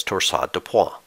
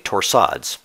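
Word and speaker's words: torsades de pointes: of polymorphic vtac is known as torso de poi or simply torsades if you prefer to skip the french pronunciation in this rhythm you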